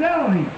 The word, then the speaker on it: Elohim: This is Elohim.